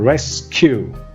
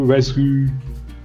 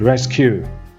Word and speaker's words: rescue: Number 1, rescue. Not rescue. Not French, English. Rescue.